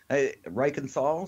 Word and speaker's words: Reichenthal: And yes, Reichenthal, so you're right on the money. Actually, the true German pronunciation, which you hit on, Yeah. I kind of Americanized it, I guess, for lack of a better term.